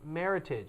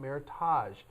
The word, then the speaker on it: Meritage: meritage it is pronounced meritage not meritage it is not a French word it is the words merit and heritage put together now to be called